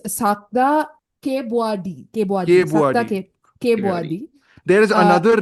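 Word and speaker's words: Sakda Kaewbuadee: It's Sakta Kebwadi.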